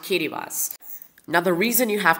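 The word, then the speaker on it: Kiritimati: called the Line Islands of kittas yes it's pronounced kittas now the reason you have to go to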